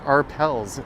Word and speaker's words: Arpels: It's pronounced arpels, says Marge.